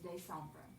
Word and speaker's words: décembre: Bruh, but yes, décembre.